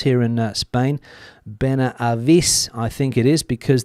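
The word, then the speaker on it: Benahavís: Ben Ais because the H isn't pronounced. So, and there's also an accent on the I I believe the place in Malaga. Ben Ais is the name.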